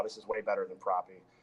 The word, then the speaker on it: Propy: Can you spell it out for me? Yeah, PROPY. Propy?